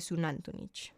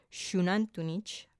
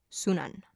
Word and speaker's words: Xunantunich: el sitio arqueológico de tantun hay varias formas de pronunciar este nombre tantun tantun xunantunich o como dicen la mayoría de los que ni siquiera logran pronunciarlo sunan esta ciudad era una